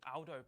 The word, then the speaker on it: Aldo: It's Aldo, not Aldo. Aldo's a very British pronunciation of an Italian name.